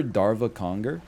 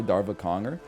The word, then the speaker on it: Darva Conger: You guys remember Darva Conger?